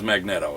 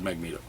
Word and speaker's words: Magneto: Rango and 0 driver pronounces magneto in which at whatever fashion you think is incorrect so if your magneto person he says magnette oh if you're a magnetic person he says magneto the matador not a